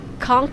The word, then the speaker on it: Conch: As I found out later, Conch Key is pronounced with a hard K sound.